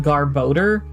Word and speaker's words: Garbodor: it uh Garbo and how many of you pronounce it like garbader or something like anything different than garboder? Cuz I feel like it wasn't until fairly recently that I heard people pronouncing it garboder. And I'm like, okay, that makes more sense than how I was hearing it in my head.